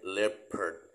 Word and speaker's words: leopard: ไ ท ย อ่ า น ว่ า Leopard ใ ช่ ไ ห ม ที่ ถู ก